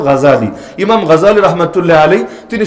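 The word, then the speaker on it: غزالي: আলাইহি নাম শোনেন নাই বাংলাদেশে অনেকে অবশ্য বলে গাজ্জালী মূল উচ্চারণ হলো গাজ্জালী ইমাম গাজ্জালী রহমাতুল্লাহ আলাইহি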